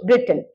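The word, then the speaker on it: wrote: जाए तो right रोट रिटन right first form second are आई जी एच टी नहीं ठीक है वो सीधा हो जाएगा या दाएं बाएं वाला राइट हो जाएगा right W रोट W silent रहता है रिटन आगे बढ़ते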